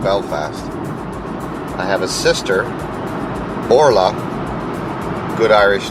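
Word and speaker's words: Orlaith: I have a sister, Orla, good Irish name.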